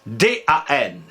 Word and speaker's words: dam: tomberas à l'E mais l'Académie continue à nous à prononcer au grand dan même si on écrit d